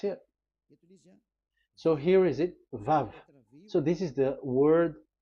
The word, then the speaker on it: Vav: We called it as VAV. VAV. Your claw, your mouth is like closed. VAV. So it's V as in Vogue. So it's really V.